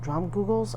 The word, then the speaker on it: Dromgoole's: a drama Google's uh drum drum Googles I think it's how you say it drum Google's uh it's